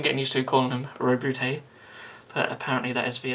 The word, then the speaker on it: Roboute: It's going to take some getting used to calling him Roboute, but apparently that is the official pronunciation.